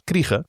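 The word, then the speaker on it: Krige: I don't know if it's Kreese or Krieg in English. I know she's a South African actress, so her name is pronounced Alice Kriege.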